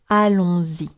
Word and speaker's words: allons-y: Allons-y. You hear z because there is une liaison, but I'm sure you understood that already.